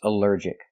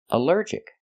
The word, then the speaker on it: allergic: Our next word is allergic. Allergic is three syllables. Allergic. The stress is on the second syllable.